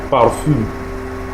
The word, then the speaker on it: parfum: Yes, parfum. The nasal sound is on the last syllable, while the vowel on the fourth syllable is pronounced with a short and sharp intonation. Okay, parfum.